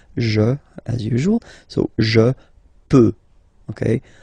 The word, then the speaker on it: peux: Okay, final X not pronounced here. Okay, so you get X, but you don't pronounce it. So basically, you get the sound peut. Je peux. Okay, so I can, je peux. Okay, then tu peux. Same pronunciation and same spelling or writing. Okay, P-E-U-X. Okay, you don't pronounce the final X.